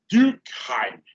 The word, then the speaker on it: Durkheim: Aí você e o EI junto, você fala ai, certo? No alemão. E junto fala ai. Aí como é que fica, então? Fica Durkheim.